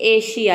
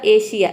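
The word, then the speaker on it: Asia: करते हैं, तो देखिए किसी भी वर्ड में एस के बाद आई ए या फिर ION आ जाता है तो वहाँ पे एस को हम श प्रोनाउंस करते हैं, श। जैसे कि एशिया, यहाँ पे देखिए ए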